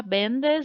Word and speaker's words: vendes: Lembrando que o acento, gente, na pronúncia, né? Fica bendes, bendes, certo? E esse acento, ele só vai simbolizar a sílaba tônica, né? Ele não vai ter aí uma mudança na pronúncia do E, certo?